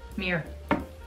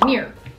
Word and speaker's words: mirror: Mirror. Like the thing you look into to see yourself? Yeah. Mirror. It's like M-E-E-R. Mirror. Instead of mirror.